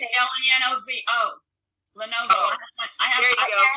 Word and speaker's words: Lenovo: How do you spell it? Lenova, and then the word yoga. It's Lenovo.